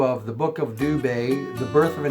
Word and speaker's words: Dubé: name is obvious, but there's basically two pronunciations. Dubé is what almost everybody goes by, D-U-B-U-E. It's the English version of the name. then, so Dubé, that's how it's pronounced. But there's also a French version. There are some members of the family who use, D-U-B-Y-O-U, if you were to pronounce it.